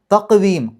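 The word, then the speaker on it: تَقْوِيمٍ: തഖ്വീം, ഖാഫിന് സുക്കൂന് കൽക്കലത്തിൻ്റെ അക്ഷരമാണ്, എടുത്ത് പറയണം.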